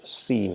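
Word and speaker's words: س: And for seen, the position is exactly the same. We just touch our tip of the tongue against the back of the lower incisors and try to pronounce seen, and that's how seen is pronounced.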